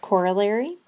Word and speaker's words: corollary: The word at the top of the slide is pronounced corollary, and that just is a word for a theorem that's related to another theorem.